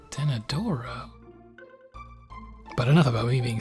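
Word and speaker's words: Denadoro: think about these pronunciations in my head it was always den Dorado but then I actually looked at it when I was really I was like ten adoro but enough about me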